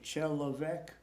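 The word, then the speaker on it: человек: And you remember how you used to say chelovek?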